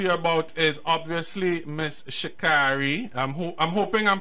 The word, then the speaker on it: Sha'Carrie: So her name is pronounced Sha'Carrie. Sha'Carrie, not Sha. Okay, yeah. Sha'Carrie. So it's weird because it looks like the way that it's spelled, because car is in it, it should be Sha'Carrie, right? But it's not.